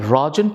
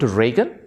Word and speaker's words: Rajan: I could get that but Rajan - Reagan that was really pushing the envelope that I compromised and